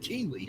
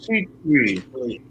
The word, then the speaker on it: Kuechly: Wait, I think Steve I thought it was Keeley. I've been pronouncing his name Luke Keeley. It's Keith. Luke Kuechly.